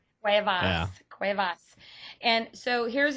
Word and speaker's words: Cuevas: Cuevas.